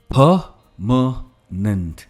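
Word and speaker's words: permanent: Next word, जो कायम है कोई चीज, परमानेंट। हम आर को प्रोनाउंस करते ही नहीं है, इट्स परमानेंट, परमानेंट।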